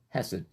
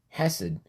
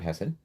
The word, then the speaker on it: hesed: book on the word hessed and and i'm pronouncing it wrong i know it's acid you gotta give it like that phlegm in the back of your throat but um he wrote